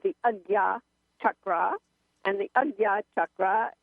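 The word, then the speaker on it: Ajna: middle of your head and it's called the Aya chakra and the Aya chakra that's spelled AJ na a by the way AA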